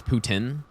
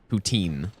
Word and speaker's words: poutine: Around here, everyone says Putin. But most other, like pretty much everyone else just says poutine.